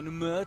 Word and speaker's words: Namur: And you mentioned they're going on to Namen or Namur, depending on how you pronounce it and how much time you spent in Belgium.